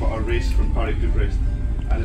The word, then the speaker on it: Brest: Mary said there's no A in there. It's not pronounced breast. But we'll see. Named after the famous bicycle race from Paris to Brest.